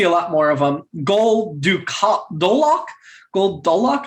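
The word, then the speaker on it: Gul Dolak: Goldolok, I think is how you pronounce it, was played by Frank Collison.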